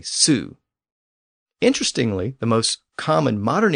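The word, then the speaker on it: sū: They also had the word sow, and just as a cow was coo, a sow was a soo.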